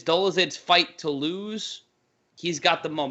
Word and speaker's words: Dolidze: The pronunciation of his name, Roman Dolidze.